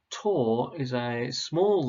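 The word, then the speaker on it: tau: to find the torque now the greek letter tor is a small letter and it looks a little bit like a t with a curly tail and it's pronounced tall and we use the formula tor equals r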